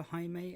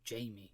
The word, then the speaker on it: Jaime: 10 introduces us to jaime and yes i am pronouncing his name that way as far as i can tell that is the original spanish pronunciation for that name and it's even spelt